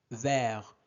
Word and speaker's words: vert: Regardez E est suivi de deux consonnes donc on va prononcer et vert.